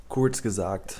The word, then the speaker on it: Kurzgesagt: Kurzgesagt. That's how you pronounce it.